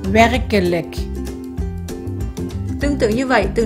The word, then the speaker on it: werkelijk: Đây là một từ nhấn trọng âm ở âm tiết đầu tiên, cho nên chữ e đầu tiên màu đỏ, nó là chữ e ngắn. Chữ e thứ hai ở âm tiết thứ hai màu xanh, nó là stomme e, cho nên mình phát âm là k.